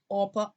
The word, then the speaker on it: Orpah: I've been calling Orpah Oprah for so long. I've been pronouncing the lady's name wrong the whole time.